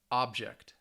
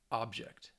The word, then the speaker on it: object: nouns first right here so the stresses on the first syllable present present object object conduct conduct so you should be able to hear the stress on that first syllable now if we are